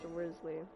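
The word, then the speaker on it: Wriothesley: but I also want Worsley wzly whatever the his name is I'm sorry but that is pronounced rly you cannot convince me you cannot convince me otherwise I was going to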